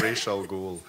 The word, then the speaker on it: Ra's al Ghul: Pronounce Ra's al Ghul. Yeah. Oh yeah. Yeah, we learned Ra's al Ghul.